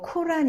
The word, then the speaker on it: 꾸란: 대해서 알아보는 시간으로 삼겠습니다 꾸란 이라는 단어 여러분이 뭐 코란 이나 다른 단어로 도 많이 드시게 찜한 아랍어로 는 꾸란 이라는 발음이 맞습니다 그러니까 오늘 이 강의를 들으신 분들은 앞으로 꾸란 이라고 불러 주시면 좋을것 같아요 어원은 카라 입니다 의미는